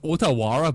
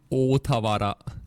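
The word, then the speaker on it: Ōtawara: Yeah, it says Otawara, but it's actually Otawara. Uh-huh. You kind of like stretch the O, but it's so like no one says that.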